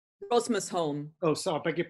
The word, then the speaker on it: Rosmersholm: Can you tell us a little bit about, if I'm pronouncing it correctly, is it Rosmerholm? Rosmersholm.